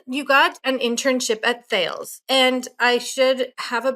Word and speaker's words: Thales: So the company Talis, in French they pronounce it Thales.